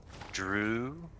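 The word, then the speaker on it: Dreugh: g h e r e u g h drew bro drew the ugh silent oh that's so if it's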